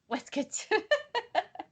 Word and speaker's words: waistcoat: a westcote the weskit it's weskit which is apparently how they say waistcoat yeah apparently for all